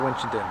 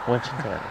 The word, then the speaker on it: Winchendon: You could call it Winchentucky, but we call it Winchendon. Winchendon.